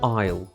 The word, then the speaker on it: Isle: to be confused with Island or Isle where s is not pronounced at all the British Isles the